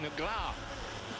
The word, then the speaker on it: Negro: And the pronunciation, really, of Alexandrino Negro, I'm told from my Brazilian friends, is more like Negra.